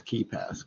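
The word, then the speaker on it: KeePass: And when you were talking about KeyPass, is that the one that's spelled K-E-E? It's not spelled key like K-E-Y. It's spelled K-E-E. My wife actually, she gets a hoot out of saying keep ass.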